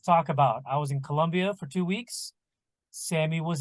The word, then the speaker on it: Colombia: I was traveling to Colombia for my daughter's quinceanera and I keep saying it wrong it's Colo Colombia Colombia um so we travel to